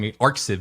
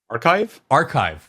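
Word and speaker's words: arXiv: I'm going to say it wrong. ArcSiv, but it's not ArcSiv. What is? Archive These papers.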